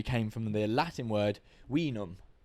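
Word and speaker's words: vinum: from the Latin word we numb we numb yeah it's spelled v-i-n-u-m but it's okay in Latin all these were pronounced as W's okay I remember that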